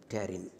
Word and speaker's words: pterin: Okay, this is, I will write down here so that you will, P is silent, pterin.